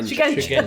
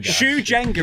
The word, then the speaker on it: Shugenja: Is that how it's pronounced? Shujenga. Shugenja. Sorry. Shugenja. Sorry, I'm terrible with pronunciation. Shujenga is a hard game.